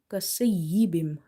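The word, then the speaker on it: كصيب: Then we have aw kasayyibim. Swad is heavy, is from the musta'aliya letters. So we will make it quite full mouth, like kasayyibim. Sayyibim.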